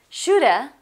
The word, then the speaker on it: shoulda: Shoulda, musta, also have. A instead of have. Shoulda, should have, musta, must have.